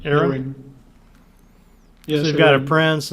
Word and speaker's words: Aurion: Was it Aaron or Iron? How do you say her name? Aaron. Aaron.